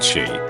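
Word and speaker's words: Sidhe: based on the Irish mythology of the Sid, pronounced she, supernatural beings with magical abilities like the Banshee. In Scotland, Sid is spelled Sith, still pronounced she, and George Lucas has Scottish in his ancestry.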